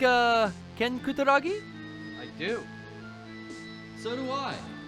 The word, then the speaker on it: Kutaragi: for the 64-hour special you like uh ken kutaragi i do so do i and that is the proper pronunciation and let me say that again the